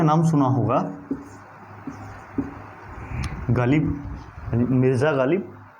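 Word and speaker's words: ग़ालिब: अब ये अगर ये बिंदी ना हो तो ये गालिब है, पर अगर बिंदी आ गई है तो अब इसका फ़र्क देखिए क्या पड़ा है इसके प्रोनाउंसिएशन में। अब ये गालिब नहीं गालिब हो गया है, गालिब। अब गला जो है वो थोड़ा भर सा जाएगा, गालिब।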